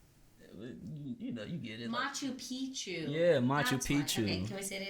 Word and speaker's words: Machu Picchu: no problem with like getting lost in Mount Pikachu, whatever it's called. You know what I'm talking about? Or like if I forget how to say it. Yeah. Mount Pichuachu.